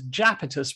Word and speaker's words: Iapetus: So Iapetus is a moon of Saturn. It's also sometimes written, for some peculiar reason, as Japetus with a J. So Iapetus is spelled Iapetus, but it's also known as Japetus, Japetus.